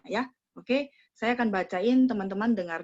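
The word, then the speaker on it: 要: Nomor 16 yao. Yao nada 4 ya.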